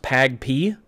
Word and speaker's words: PAgP: Now the PAGP is pronounced PAGP.